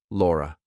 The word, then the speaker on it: Laura: For example, my name is Laura. Laura. It ends on a schwah.